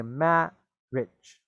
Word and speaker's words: marriage: actually you can uh ignore the i completely just say ma rich okay marriage so you can actually just uh pretend the eye is not there at all okay matt